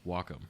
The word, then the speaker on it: Wacom: I've asked the guys by the way it's pronounced Wacom I was I wanted to know yeah and